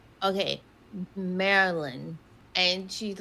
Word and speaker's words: Maryland: I was like, "No, but I just want you to know we don't say Mary Lynn."